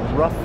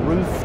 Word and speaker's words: RUF: we're here now on the rough stand or roof depending on how you pronounce it roof roof and they're